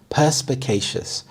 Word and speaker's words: perspicacious: Perspicacious. Perspicacious. The primary stress is on the first syllable, perspicacious. This means being good at understanding things quickly and clearly.